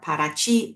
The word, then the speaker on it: Paraty: Our driver will take you right from the airport to Paraty, or Paraty is how they pronounce it in Brazil.